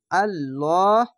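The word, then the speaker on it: الله: এই ল উচ্চারণ কেন করছি, লা উচ্চারণ কেন করি না? যদি আল্লাহ লেখার ডান পাশের অক্ষরে যদি ওপরে জাবার পেশ বা 2 জাবার যে কোনো জাবার জের পেশ যদি আসে ওপরে, তাহলে ল উচ্চারণ হবে। যদি নিচে আসে তাহলে লা উচ্চারণ হবে। তো এখানে ওপরে আছে, তার জন্য ল উচ্চারণ হবে মোটা করে।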